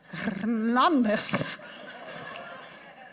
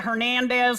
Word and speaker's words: Hernandez: Hernandez. Now I say it like this before I'd go, yeah, Hernandez, like I'm from Georgia.